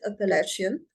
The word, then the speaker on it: Appalachian: Okay, so this is how we pronounce it, Appalachian Mountains, and this is where they are located.